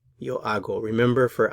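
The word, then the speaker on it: hago: i will say yo ago yo ago remember for acer the h is silent so we don't pronounce it you have to imagine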